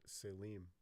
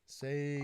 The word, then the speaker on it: Salim: well, no, his name's Salim. With an Salim. M. Yeah. Saline. I've been pronouncing it with an N.